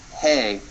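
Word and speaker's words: ה: of the Hebrew alphabet is pronounced hey like the hay a horse eats and it's the H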